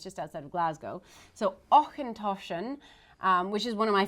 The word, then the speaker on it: Auchentoshan: So it is not Ocean Toshan. It is Auchentoshan.